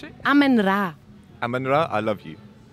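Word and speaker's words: Amenra: How do you pronounce it? Amen Ra.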